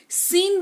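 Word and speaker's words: scene: कौशल जो कह लीजिए सीन बोलते हैं स सन नहीं बोलते हैं एस सी ई एन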